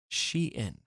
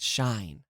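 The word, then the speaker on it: Shien: for uh not immediately knowing how to pronounce she in not shine they should spell it she in then right all right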